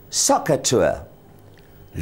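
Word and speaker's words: SOHCAHTOA: sides so I have saw Ka T pronounced as socer t look carefully I hope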